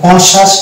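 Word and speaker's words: conscious: কনসাইন্স এই শব্দটা দেখতে পাচ্ছি কনসাস তাহলে কনসাস এখানে দেখতে পাচ্ছি এস সি এর পরে আছে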